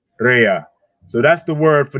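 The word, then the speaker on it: רֵעַ: I'm going to get him to pronounce it for you. Strong's H7453. Rhea. Rhea.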